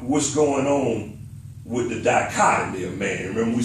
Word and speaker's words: dichotomy: to, figure out what's going on with the dichotomy of man. Remember we said the dichotomy, he got two parts. He's got the spirit and the flesh. So that's the dichotomy, two parts.